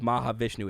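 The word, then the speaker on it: Mahavishnu: And Debbie Downer says, "Maha Vishnu is how you say that." Mah Vishnu.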